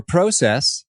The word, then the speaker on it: process: out a bit of process or process as Canadians say do we say I love it you do it's a long o instead of a short o and I actually like